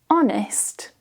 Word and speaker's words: honest: When the H is at the beginning of a word, usually of French origin, we can remove the H. For example, honest, hour, honor, air.